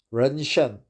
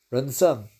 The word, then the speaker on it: ren shen: Ren shen, right? Ren shen, ren sen. I heard the southern Chinese people pronounce it red sun, ren sen, but actually it's a ren shen.